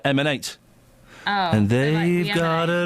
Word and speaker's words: MN8: You pronounce that M&8.